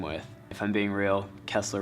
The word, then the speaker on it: Kessler: If I'm being real, Kessler rhymes with wrestler, so I started wrestling for that simple reason.